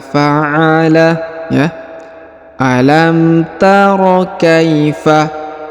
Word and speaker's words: فعل: Perhatikan, kita baca kata per kata. Alam tara kaifa fa'ala, ya. Alam tara kaifa fa'ala.